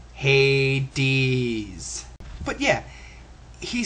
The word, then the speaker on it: Hades: __ ] your majesty even in the Bible it's pronounced Hades but yeah he says